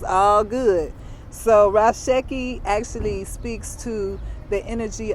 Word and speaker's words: Ra Sekhi: six years so uh raw seiki what does it mean or ashiki raseki or sheki you know it's tomato tomato depending on where you come from what tribe you're from that dictates how you pronounce words it's all good